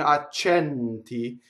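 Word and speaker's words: accenti: So if it's closed E, oh, there is actually sɛnti and accɛnti.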